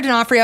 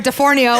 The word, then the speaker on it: D'Onofrio: we're joined by Sarah D'Onofrio am I saying your last name yes you're the only one who said it right called you sarah de for neo like the guy from a law-and-order SUV but I think it's